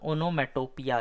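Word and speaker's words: onomatopoeia: ठीक है, तो ये सब साउंड वर्ड्स को कहते हैं अपन ओनोमेटोपिया। इसका स्पेलिंग देख लीजिए भाई, पूछ सकता है। ओनो मेटो पोया, पोया पोयम वाला पोया।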